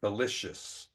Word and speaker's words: malicious: little tough all right the i c i o u s again it has kind of an sh sound to it malicious all right speaking of